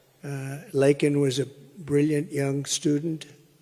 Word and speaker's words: Laken: lakan Riley you know Laken very well now and after months of prodding him Biden couldn't pronounce her name he said uh he said Lincoln Lincoln Riley and Lincoln Riley